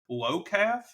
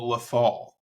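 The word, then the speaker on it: Lothal: and the first one we kept calling it lowf which it is actually called lethal so yeah uh bad that's my bad no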